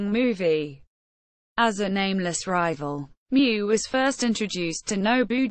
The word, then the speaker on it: Miu: She is older than she looks, 27, and her name is often mispronounced MYU by Nobu.